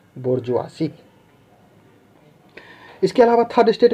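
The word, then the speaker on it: bourgeoisie: सही प्रोनाउंसिएशन क्या है, बोर्जुआसी।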